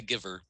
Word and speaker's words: Guyver: yeah good kind of uh psycho gorman the guyver the guyver yeah what's the guyver about oh yeah that's another pronunciation it's pronounced the giver it's the keeper what did you never see